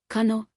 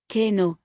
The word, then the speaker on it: Kano: Nigerian cities, Abuja, Abuja, Lagos, Lagos, Kano, Kano, Ibadan, Ibadan first syllable.